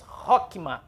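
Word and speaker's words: חכמה: aqui o reto então como nós lemos rock me rock me então primeira sílaba rock e a segunda mar rock me rock me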